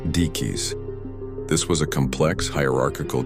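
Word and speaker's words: Diquís: The Dis culture the creators of the spheres have been firmly identified by archaeologists as the dyke culture pronounced deis.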